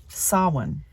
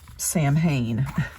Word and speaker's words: Samhain: like a learning scroll dedicated to saan uh it looks like Sam Hayne the way it's spelled but it's an old